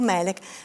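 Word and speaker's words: ملاك: ha lo stesso significato, pronunciato Malak o Melek, però ha lo stesso significato, ed è proprio quello che noi vogliamo dire nella nostra danza del ventre.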